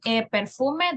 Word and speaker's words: perfume: a correction with pronunciation perfume the pronunciation is perfume perfume the the intonation goes in the letter U perfume okay perfume okay